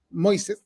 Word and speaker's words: Moïse: Tú me corriges, digamos, si pronuncio bien, Moïse. No es Moisés, así que está bien.